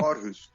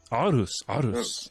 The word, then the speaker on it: Aarhus: Aarhus. Aarhus. There we go. Thank you. I have someone who can actually pronounce things properly on the show.